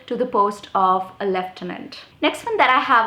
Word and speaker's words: lieutenant: Okay, so we write it as lieutenant, but we are not supposed to be pronouncing it as lieutenant. It's supposed to be pronounced as lieutenant.